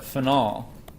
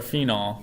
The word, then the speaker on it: phenol: And this alcohol is called a phenol, or a phenol, depending on how you want to put the emphasis on the syllable.